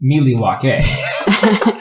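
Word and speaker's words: Milwaukee: Actually, it's pronounced Miliwake.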